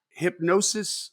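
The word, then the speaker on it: Hipgnosis: That means they're acquiring, like Hypnosis Songs Fund. I don't know how to pronounce that. I think it's hypnosis, but it's I think the G is silent.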